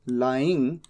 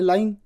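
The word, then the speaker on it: lying: ही इज़ लाइंग। अब मान लीजिए मैं यहां पर प्रोनंसिएशन नहीं लिखता। तो हो सकता है कि आप इसे गलत प्रोनाउंस कर दें। आप कह दें लेइंग जबकि यह तो है लाइन।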